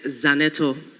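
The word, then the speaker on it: Zanetor: give her opportunity to teach us how to pronounce her name. Yes honorable member. Thank you right honorable speaker. The name is Zanetto.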